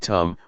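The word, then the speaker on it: ธรรม: we see this now the dhamma in Thai pronounced in the same way as the word tum which means to do refers to Nature that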